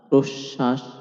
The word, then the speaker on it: প্রশ্বাস: শব্দের মধ্যে বা শেষে ব ফলা থাকলে ব ফলা যুক্ত বর্ণটি দুইবার উচ্চারিত হয়। এখানে খেয়াল রাখবেন ব ফলা উচ্চারিত হচ্ছে না। কিন্তু ব ফলা যে বর্ণের সঙ্গে যুক্ত হচ্ছে সেই বর্ণটি দুইবার উচ্চারণ হচ্ছে। যেমন বিশ্বাস বিতান প্রশ্বাস দাসত্ব ইত্যাদি।